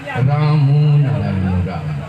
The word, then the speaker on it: রাম নারায়ণ রাম: ওঙ্কার ধ্বনি উচ্চারণের জন্য রাম নারায়ণ রাম, রামনারায়ণ রাম নয়। রাম ওঙ্কার, নারায়ণ আরো দুইবার ওঙ্কার। রাম নারায়ণ রাম একবার বললে তিনবার ওঙ্কার ধ্বনি উচ্চারণ হবে।